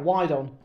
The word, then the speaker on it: Wydon: This is my parrot, Wydon. Wydon. Yeah, but it's spelled like WYDON. Yeah. And obviously Wydon is a term for horny women having a wide on.